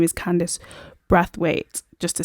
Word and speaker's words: Candice Brathwaite: By the way, that lady's name is Candice Brathwaite, just to say it correctly. Candice Brathwaite.